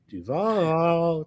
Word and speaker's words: Duval: Liam Con need to learn how to pronounce Duval. Duval.